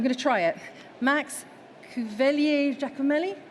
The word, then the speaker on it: Cuvellier Giacomelli: Max Cuvellier Giacomelli? Not bad at all. Go on, how do you say it properly? Cuvellier Giacomelli. Okay, he does it better than me.